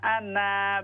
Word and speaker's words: أنا: بمثله مددا قل إنما أنا بشر مثلكم قل إنما أنا بشر أنا अलिफ साइलेंट है, अलिफ ना पढ़िए।